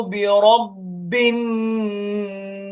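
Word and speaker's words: بِرَبِّ: കുൽ അഊദു, ഖുൽ അഊദു ബിറബ്ബിൻ നാസ്. ബിറബ്ബി, ബിറബ്ബി, ബി എന്നാണ്. ബിറബ്ബു എന്ന് പറയാൻ പാടില്ല. ഖുൽ അഊദു ബിറബ്ബിൻ നാസ് തെറ്റാണ്. ബിറബ്ബ പറ്റൂല. ബിറബ്ബി അങ്ങനെ തന്നെ പറയണം.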